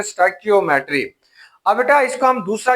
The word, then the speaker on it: stoichiometry: Chapter number 4 स्टाइकियोमेट्री, इसको हम मुख्तलिफ प्रोनाउंसिएशन के साथ पढ़ते हैं। कहीं पे आप इसे स्टिशियोमेट्री कहते हैं, कहीं पे आप इसे स्टाइकोमेट्री कहते हैं या इसे स्टिचोमेट्री का नाम भी देते हैं। असल इसकी प्रोनाउंसिएशन क्या होगी? That is pronunciation is ए स्टाइकियोमेट्री। इसकी जो प्रोनाउंसिएशन है वो स्टाइकियोमेट्री है।